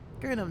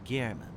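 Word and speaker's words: Gehrman: healing Church's Marshal Force gam tells uh gam tells us the following sorry Gman that's how you pronounce it Gman tells us the following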